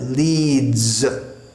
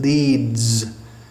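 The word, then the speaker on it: Leeds: end of a word just like the word leads it spirits written with an S but it's pronounced something like a Zed leads he leads us or the the city in England leads but in Sanskrit there's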